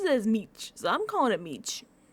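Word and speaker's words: mici: It's written as Mei and they say a lot of them say Meei but Jeff but Jeff but Phil Phil pronounces it as Meech.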